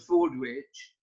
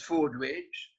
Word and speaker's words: Fordwich: Lord Cooper, 1738 to 1789, arrived under his courtesy title of Lord Fordwich in 1764 on his grand tour. The Italians couldn't pronounce Fordwich, so they called him Milord Forbici, or Lord Scissors.